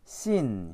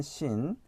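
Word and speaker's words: שׂין: 그래서 얘는 이제 쌍시옷에 발음이 나고 얘는 이제 SH 발음 있죠.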